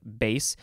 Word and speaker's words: bass: word that's spelled the same way but it's pronounced bass it is an adjective from uh the 15th